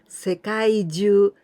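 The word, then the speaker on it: 世界中: So 世界中, here we pronounce Jyuu, not Chuu. 世界中, it means all over the world.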